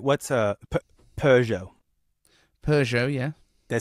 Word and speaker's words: Peugeot: What's Peugeot?